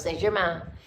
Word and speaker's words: Saint-Germain: No, it's Saint-Germain.